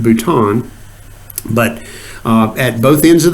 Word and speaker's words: bouton: or or I've heard it said the terminal button but it's actually comes from from fringe so it's pronounced bouton but at both ends of the cell there